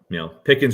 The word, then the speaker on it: Pickens: We said it all offseason that Pickens rhymes with Higgins, but it also rhymes with Pickett.